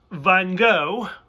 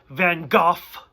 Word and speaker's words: Van Gogh: gh sound or like you pronounce the gh like an f van gogh which is mostly what